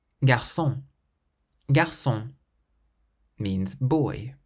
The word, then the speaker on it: garçon: So we emphasize the last syllable, restaurant. Garçon, garçon means boy.